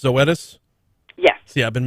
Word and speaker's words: Zoetis: if i'm not mistaken is you say it's pronounced zoetis yes yeah i've been mispronouncing that one yesterday